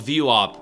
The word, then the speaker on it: VWAP: It's called it's VW it's spelled VWAP. VWAP. It's called VWOP.